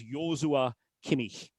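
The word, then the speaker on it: Joshua Kimmich: of examples of of variations of that that he absolutely detests. So, you know, he's pretty clear about that, but it is Yua Kimikh. Brilliant. Uh, so certainly not Josh.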